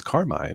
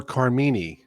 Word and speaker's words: Carmine: that's my name yeah people usually say or Carm but it is Carmine it was a name by my grandfather my father's father you'd be surprised how many people butcher the name I once had a UPS guy come to the store excuse me he said package for car meanie anyway Jordan yogi welcome